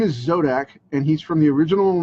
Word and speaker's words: Zodac: I have zodac from not zodiac but zodak from he-man the original